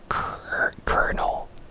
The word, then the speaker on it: colonel: in these very arbitrary ways for example uh kernel Colonel instead of colonal uh is the French